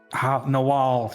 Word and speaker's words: Nawal: Rhymes with DeWall. Because I'm DeWall. Nawal.